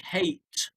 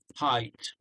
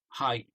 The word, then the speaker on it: height: um uh height uh you've pronounced it a bit like hate um so it's not hate it yeah right yeah so it's um height height yeah so they want